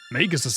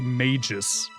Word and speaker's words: Magus: A lot of people say mages. Like mage, but with an us behind. But I'm pretty sure it's Magus with a hard G.